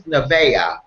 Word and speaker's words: Nevaeh: Paulette is here to share with us about her new book, and I hope you correct me if I pronounce this incorrectly, Princess Nevaeh.